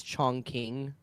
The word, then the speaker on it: Chongqing: place is real but he was mispronouncing it on purpose it's Chong King uh and he was